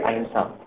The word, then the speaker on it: अहिंसा: बात की जाती है अहिंसा। इसको अहिंसा भी पढ़ा जाता है और अहिंसा भी पढ़ा जाता है। प्रोनाउंसिएशन ना का जो बिंदी का है वो ना और मा दोनों आते हैं।